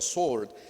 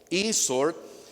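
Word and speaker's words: e-Sword: Espada en inglés, sword, pero se pronuncia sword, eSword.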